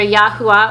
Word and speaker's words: Yahuwah: And that is how I pronounce his name. I know some people do have slight variations, but again, that's how I pronounce it.